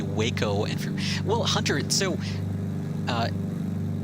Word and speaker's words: Waco: when i discovered that waco aircraft were actually pronounced wacko like i was